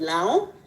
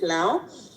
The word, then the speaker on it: Lango: So I come from a tribe that is called Lao, and written Lango, and it's in the northern part of Uganda, but we pronounce it Lao.